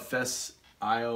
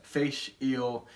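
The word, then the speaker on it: Fèis Ìle: looks like it's spelled Fish Isle or whatever, but it's Fish, like fish, yeah. Eel, but it looks like Face Isle-y, so it's yeah. Fish Eel.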